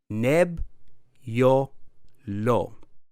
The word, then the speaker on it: Nebbiolo: the world's greatest wines first let's get the pronunciation right NAB your low nebula you try Nebbiolo